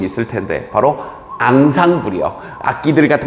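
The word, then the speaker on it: ensemble: 외울 필요는 없고요 이건 inle이라고 하는데 아 프랑스어로 발음하면 어디선가 들어볼 수 들어본 적 있을 텐데 바로 앙상 불이요 아기들 같은 거 다 이렇게 상부를 이룬다 총체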